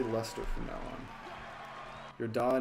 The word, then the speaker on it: Leicester: the irish premier division no it's like lester okay i will